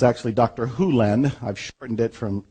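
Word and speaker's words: Hew Len: Hu Len, I've shortened it from E to Dr. Len, but it's actually Dr. Hu Len, if you want to say his name correctly.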